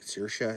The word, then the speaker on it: Saoirse: Like Saoirse is, there's actually not an R in that name.